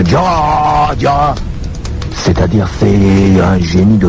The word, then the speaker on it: Adjara: Dans la tradition, quand on disait avant, Adiara, il faut même prononcer Adiara.